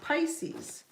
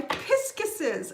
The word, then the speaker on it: Pisces: I only call you that because that's how my son pronounced it when he read the word for the first time.